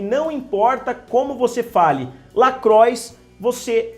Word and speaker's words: LaCroix: ficam falando incessantemente, e muitas pessoas pronunciam Lacroix e outras pronunciam Lacroix, que seria uma forma mais francesa de falar, mas é uma marca americana.